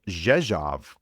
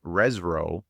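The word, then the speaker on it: Rzeszów: I think it was a flight to Jezjav, which I thought was Resro, but the pronunciations again, RZ is as a J and the O R O W was off.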